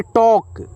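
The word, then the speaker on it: talk: क्या होता है आदमी टी ए एल के इसे आप पढ़ेंगे टॉक ठीक है यहां पर एल साइलेंट है टॉक बातचीत करना ठीक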